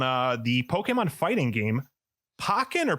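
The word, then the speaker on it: Pokkén: free trial on uh the pokemon fighting game pokken or pokken how did you pronounce it i was thinking pokken i pokey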